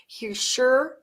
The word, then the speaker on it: Hischier: Hischier, that's absolutely how you say it.